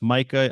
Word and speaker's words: MiCA: I've always heard it pronounced Micah. I noticed you were saying Mika. Yeah, Uh, well, I use the Italian pronunciation, yeah, Mikar, Mikar, okay. because it's for me it's a Italian, it's a European Union side. But you can say Micah if you want.